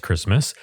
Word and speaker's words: Christmas: We wouldn't say that in 2025 or 2026, white Christmas, but back in the day, that's how they would pronounce it. And it's interesting, too, that he sings Christmas. He pronounces the T in Christmas, but then later on